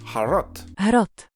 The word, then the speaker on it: HROT: next game is harot well actually it's pronounced as har har and I promise this